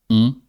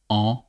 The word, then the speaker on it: en: and then a transport, that by is en. Not on, but en.